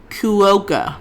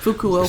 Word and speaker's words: Fukuoka: this a little bit yeah one how you pronounce that okay F hold on I'm fuoka yeah Fukuoka so that's where the Champions chip Champions League